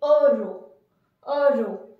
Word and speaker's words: heureux: So the pronunciation of this adjective will be heureux. Generally, if any term in French is beginning with this vowel H is a semi vowel, H generally is considered as silent.